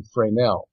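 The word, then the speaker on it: Fresnel: one of his French scientist friends uh Augustin frel it's spelled f re s NE L and uh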